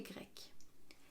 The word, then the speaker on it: grecque: Georges est grec, Lucie est grecque. C'est la même prononciation, mais si vous regardez bien, l'écriture est différente.